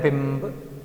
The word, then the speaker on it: बिंब: और यहां पर देखने में एक जैसा है परंतु क्या बोल रहे हैं, बिंब। ऑटोमेटिकली उच्चारण वही आ रहा है मां का।